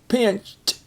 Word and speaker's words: pinched: tire pinched um pinched it's interesting it looks like two syllable word pinched but it's actually one pinched and that I right